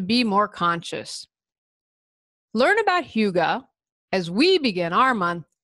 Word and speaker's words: hygge: say how to pronounce Hyuga is spelled H Y g ee i would have never guessed that Hugo's how you pronounce that I would have said hi G what I love about